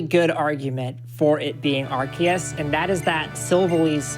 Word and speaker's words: Arceus: from avery who says i'm gonna call nonsense on the pokemon company pronouncing god horus's name as arceus i'm with you there i was definitely an arceus person and i have not stopped saying it that way i still say arceus